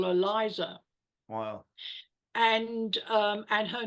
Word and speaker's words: Liza: And my daughter then used to say that to everybody, used to sing it to everybody and say, it's Liza with a Z, The Z. not Lisa with an S.